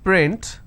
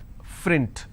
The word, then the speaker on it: print: word which is print, lot of people pronounce this as frint. So that is where the mistake happens. Okay. There are some people who cannot pronounce the per sound, they replace that with a fur sound.